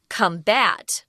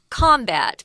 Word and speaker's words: combat: means to fight now the verb is pronounced combat with the strong emphasis on the second syllable but if it's a